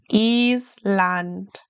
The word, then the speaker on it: Island: Remember your German i sounds like an e. Island.